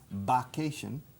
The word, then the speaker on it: vacation: Primero con B en vez de V, vacation, y suena mal, suena primitivo, suena feo.